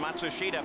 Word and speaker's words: Matsushita: By the way, that's the pronunciation that now Hero himself has asked all the announcers to use. We know it's not the same pronunciation that the family uses or he uses in Japan, but it's what he wants.